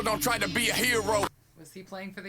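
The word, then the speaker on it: Herro: heard so many of the tyler hero or tyler harrow as i'm going to pronounce his name because that's how it's spelled right remixes recently so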